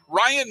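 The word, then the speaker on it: Ryne: No, I will tell you Ryan is spelled R Y N E. I assume that's Ryan.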